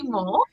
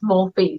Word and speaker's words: Morphe: how you pronounce it i say more more than i've been corrected it's morphy so so i love